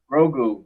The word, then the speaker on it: Grogu: How you pronounce it? They took Grogu.